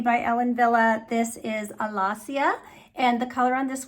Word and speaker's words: Alasia: I looked at it at first and I was like, is that Allesia? Allesia, but I looked at I like to look up pronunciations when I'm not sure. And what I found was Alassia.